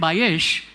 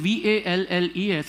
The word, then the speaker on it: Valles: Bayesh, Valle. but we, because it was Valles, and since we murder every pronunciation in the world, from snacks to snakes, we called him Valles, thinking it was Wallace, but he was Bayesh, yeah.